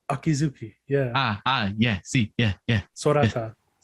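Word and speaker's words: Sorata Akizuki: Author is Sarada Akizuki. Sarata Akizuki. Yeah. Yeah. See, yeah. Sorata. Yeah. So I think even like Sora from Kingdom Hearts.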